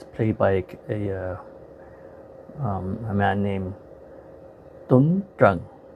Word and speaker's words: Tuấn Trần: by a man named Tuấn Trần, or if you want to pronounce it in the American way, it's Tuan Tran, but the Vietnamese pronunciation is Tuấn Trần.